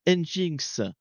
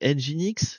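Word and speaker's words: nginx: un engin euh alors moi je dis toujours engin mais c'est pas comme ça qu'il faudrait prononcer. C'est engine X. C'est ça ? Je crois que c'est comme ça. C'est engine comme un moteur. Engine X en fait il faudrait prononcer.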